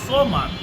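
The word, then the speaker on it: الصمد: আল্লাহর জায়গায় আল্লাহুস সামাদ, সামাদ নয়, সিন নয়, সদ। সদের উচ্চারণ এখানে অবশ্যই করতে হবে।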